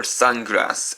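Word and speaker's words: サングラス: spelled in English as the word in Japanese for sunglasses is sunglass or sungrass as it's said in Japanese and so when you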